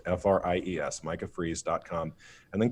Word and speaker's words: Fries: minor prophet mi CAH freezes spelled like french fries FR IES Micah fries calm and